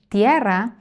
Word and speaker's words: tierra: In the word tierra, there is one closed and one open vowel. I, e, ie.